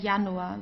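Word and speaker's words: Januar: De Yanua. We never pronounce it as the English J not Julia or so de Yanua or here Yong.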